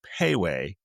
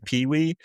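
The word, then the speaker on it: Pei Wei: it's actually I looked it up the exact pronunciation is Piway but I always say pee-wee and I'm like and me and Anna love this place.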